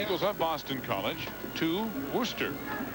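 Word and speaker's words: Worcester: of Boston College to Rooster or it looks like Worchester but it's not pronounced that way where they'll meet the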